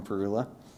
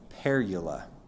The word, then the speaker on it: parula: It tells us a little more than northern parula. And very controversially, apparently you're supposed to pronounce it perula, but most birders I know say parula.